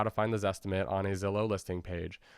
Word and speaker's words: Zestimate: Because the Zestimate is an estimate and it's often not precise. And that's the point, right? It's not a coincidence that the Zestimate rhymes with estimate.